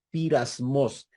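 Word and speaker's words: πειρασμός: utiliza para pruebas es del griego pirasmos se escribe peirasmos peirasmos Así es como se escribe esa palabra Y esa palabra puede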